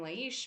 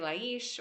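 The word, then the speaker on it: Laís: I'm here today with my beautiful friend Lais Scort, and I say her name Lais because I speak Portuguese from Portugal, but some say Laish or Lai, and I'm so happy to be with her here today.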